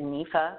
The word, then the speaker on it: NIFA: of Food and Agriculture I say it nifa that I don't know if that's actually helped others pronounce it it's a research department